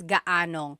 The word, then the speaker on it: gaanong: And then just a pronunciation tip, if you happen to see gaano ang something, it's usually put together and it's gaanong.